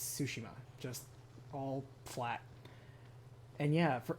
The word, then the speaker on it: Tsushima: No emphasis on any part of it. Not Tsushima, not Tsushima. It's Tsushima.